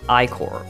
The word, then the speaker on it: Ichor: Iker is pronounced Icor, but it is also incorrectly pronounced Iker by many, including me when I first played the game.